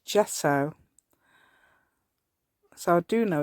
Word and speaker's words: gesso: some Gess Jess o I always call it Gess it's gesso so I do know it's yeah lot everybody pronounced it gesso but me but it's actually